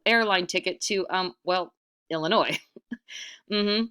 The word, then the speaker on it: Illinois: ticket to UM well Illinois mm-hmm no the S is silent want a ride sure